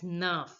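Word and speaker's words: neuf: speaker again you eat nine is pronounced as Nerf Nerf Nerf Nerf now listen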